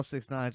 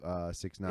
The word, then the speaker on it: 6ix9ine: It's a little different because I saw 6ix9ine's ass whipping. Getting And whipped. so, Yeah, he really got for fucked. the Yeah. listeners, it's a picture of Jesse Smollett next to 6ix9ine It's, after they both got their ass beat.